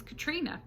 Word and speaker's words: Catriona: I was like, no, this is not how you say this name. This name is Catriona.